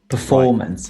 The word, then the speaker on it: performance: So we'll say management, performance. Right. So management on the first syllable, performance on the second syllable, for example.